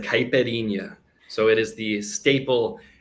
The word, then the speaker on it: caipirinha: favorite drink because i don't know how to pronounce it so why don't you tell us your favorite drink it's like caipirinha so it is the staple mixed alcoholic beverage